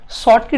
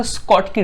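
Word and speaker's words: Schottky: Some of the person is also, मतलब अगर देखा जाए तो कुछ पर्सन ऐसे हैं जो लोग शॉर्टकी डिफेक्ट भी बोलते हैं, बट the actual pronunciation is अ स्कॉटकी defect.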